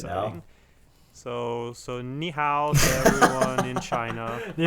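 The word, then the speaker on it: 你好: very exciting times man right now so so knee how did everyone in china you know was that right yes that is perfect the pronunciation is perfect thank you alex my mandarin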